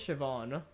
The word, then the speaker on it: Siobhan: a Ruckus was shiban is it shivon sopan shivon I feel like is it Shon is it actually pronunciation wow you are absolutely right it is Siobhan I just looked it